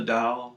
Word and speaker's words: 道: is the tradition of the dao so this is the modern mandarin pronunciation of this character that character is an